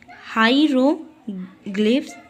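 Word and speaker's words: hieroglyphs: तो देखिए बच्चों, the ancient Egyptian wrote in pictures called हीरोग्लाइपस, ठीक है, यानी प्रोनाउंस्ड हाइरोग्लिफ्स।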